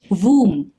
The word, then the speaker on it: womb: Womb, for some strange reason, B is silent yet again.